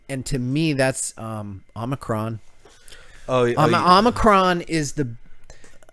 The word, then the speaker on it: Omicron: moronic I I do notice that Alex Jones pronounces it omnicron just like he does the whole George W